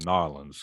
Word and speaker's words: New Orleans: like you're actually struggling i said gnarlings because that's how they say it down um that's gonna get